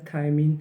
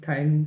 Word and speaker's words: थायमीन: जैसे vitamin B1 इसको बोला जाता है थायमीन। स्पेलिंग भी ध्यान रखना ज़रूरी है, THIAMIN, थायमीन, ठीक है।